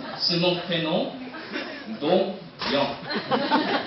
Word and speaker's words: Dongyoung: C'est pour ça aujourd'hui, je voudrais mettre accent sur mon prénom, Don Yang. Yang comme les jeunes, Yang même, YMCU.